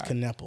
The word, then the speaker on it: Kneppel: I think it's Kneppel. I've pronounced it wrong the entire segment. Kneppel. It's Kneppel? Yeah, it's Kneppel.